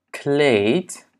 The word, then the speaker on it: kleed: La première, c'est que les doubles voyelles sont toujours longues. Dubbele klinkers zijn altijd lang. Ja? Double voyelles sont toujours longues dans la prononciation. Donc, par exemple, A, baan, kaart. Ja? E, kleed, geen. Ja? Kleed en geen.